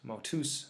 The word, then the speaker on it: motus: the stem, here motus, motus, masculine, motion, that the genitive ends in us. This is actually a long U as opposed to this short U, although most texts you're